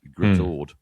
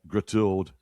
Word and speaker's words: Great Harwood: I mean, probably, although the thing about Lancashire is that, they pronounce the 2 words spelt Great Harwood as Gritord. So you've Gritord.